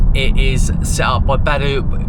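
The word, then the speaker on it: Baidu: It is set up by Badu, which is I think I'm saying it right. It might be BU, but that's like China's version of Google.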